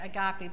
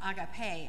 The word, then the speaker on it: agape: love agape is uh we say it agape but the more correct greek pronunciation is agape and that is a